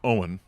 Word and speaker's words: Eoghan: And my mom chose Eoghan, which is Irish. And so that's where the pronunciation comes from.